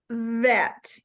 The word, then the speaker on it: vet: practice with the V remember to bring your teeth down that ready vet try it um if you